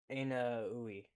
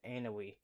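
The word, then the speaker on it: Ounahi: Vaneka to Van Djk headed by Hakeime Robbie the young fowls anaoui. No, it's Anoi.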